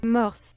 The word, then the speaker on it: morse: Morse. Morse. Morse. Morse. Merry Christmas. Oh, my goodness gracious. Morse. Morse. Morse. Morse. Morse. Morse like the code, but you pronounce it